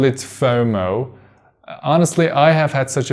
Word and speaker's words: FOMO: And we have to pronounce it FOMO and not FOMO.